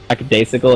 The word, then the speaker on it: lackadaisical: Lackadaisical, is that how it's pronounced?